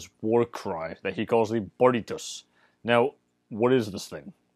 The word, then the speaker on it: barritus: Ammianus spells it B-A-R-R-I-T-U-S.